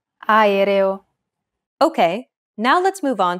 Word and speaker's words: aereo: Even when there are two or more vowels in a row, just pronounce them separately. Aereo.